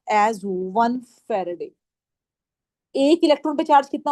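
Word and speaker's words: Faraday: इसको हम प्रोनाउंस करते हैं एज वन फैराडे।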